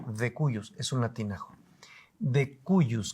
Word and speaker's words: de cujus: jurídicos le llamamos el de cuus se escribe de cujus con j pero decimos de cuus es un latinajo de